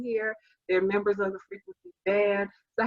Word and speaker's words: Freakwincey: So it's Freakwincey.